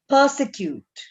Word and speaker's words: persecute: Persecute. Persecute. So the R here is silent. We don't read that sound.